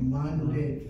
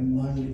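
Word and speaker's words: Maundy: And it's called Monday Thursday. And add it to the words I gave you, and it's spelled M-A-U-N-D-Y.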